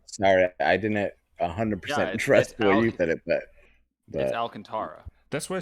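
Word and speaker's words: Alcántara: I didn't 100 interested Alcantara that's what I said you says Alcantara for the longest time it's Alcantara I said we gotta unlocked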